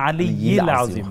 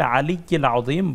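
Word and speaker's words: العلي العظيم: ইল্লা বিল্লাহিল আলিউল আজিম না আলি আজম না। এটি আসলে মৌলিক অর্থগত মৌলিক তেমন পার্থক্য হয় না। তবে উচ্চারণটা বিশুদ্ধই হওয়া উচিত। সেক্ষেত্রে ইল্লা বিল্লাহিল আলিকিল আজিম বললেই যথেষ্ট হবে।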